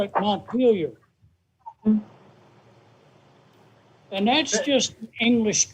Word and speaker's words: Montpelier: It's Montpellier. We call it Montpelier.